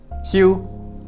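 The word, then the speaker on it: 休: This character, for example, means rest, pronounce xiu.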